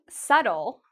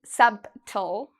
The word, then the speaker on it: subtle: This word, subtle, is a word many native speakers make mistakes with because native speakers actually see the B and they really want to say it, but it's incorrect. We don't say subtle.